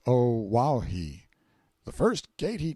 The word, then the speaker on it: Oahu: i named him after this island oahu pronounced oh wow he the first gate